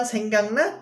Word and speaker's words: 생각나: Ini dibacanya 생각나 ya teman-teman. 생각나. Ya, 생각나. Gioknya berubah jadi ieng ya. Ini aturan nasalisasi.